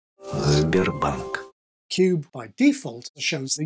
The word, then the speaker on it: Sberbank: And Slavic languages, including Russian, do the same thing. Sberbank. Sberbank.